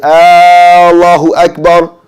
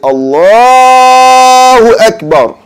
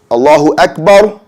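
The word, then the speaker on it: الله أكبر: So you don't hold the bar sound. It's a short bar. And you can elongate in the word Allah after the lam. So you wouldn't say Allahu Akbar, But you can say Allahu Akbar, and then you shorten after the for bar in Akbar. So we see right here, Allahu Akbar, not Allahu Akbar. That would be wrong.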